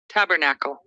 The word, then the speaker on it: Tabernacle: of this word is Tabernacle in American English and in British English it's Tabernacle the first syllable is stressed in both American and British English so in American English